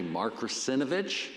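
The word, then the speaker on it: Mark Russinovich: In fact, you might have heard of this guy, Mark Rusinovich. Did I pronounce that right?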